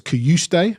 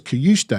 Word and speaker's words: Cajuste: So it's Kajuste. Right. So we get these Premier League videos where they tell you what their pronunciation is, and he says it gets sent out to all the broadcasters. Yeah. So he says Kajuste, and when he scored, someone said, "What's his name? We want to pronounce it right." I said, "Well, it's Kajuste."